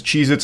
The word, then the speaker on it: Cheez-It: Cheez-Its, and I'm still saying it wrong. Cheez-Its never existed. They have always been Cheez-It, not plural.